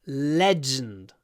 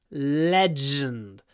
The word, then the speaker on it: legend: Legend. Legenda. Legend. Don't say legend. Legend. Stress is on the first syllable, which means we do a long L.